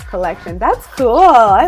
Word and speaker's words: COLLXTION: COEX and petty pronouncement collection it's just you you replace that you see with the next okay collection I see